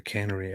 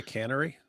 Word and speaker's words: canary: Judas Iscariot says David sitting looking like the cat that swallowed the canary. LOL. This was very early on. Meanwhile, David started talking. Did you say cannery? How do you say it? Canary.